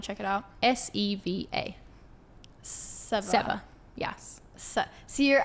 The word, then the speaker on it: Seva: Seva. Yes. See your accent. I know, it sounds it's confusing. Like sever, but it's Seva.